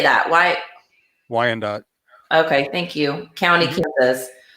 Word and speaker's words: Wyandotte: missing from how do you say that why Wyandotte okay thank you County cos went missing December